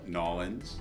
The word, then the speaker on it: New Orleans: This is New Orleans, like New Orleans, but pronounced like a local, Nolans.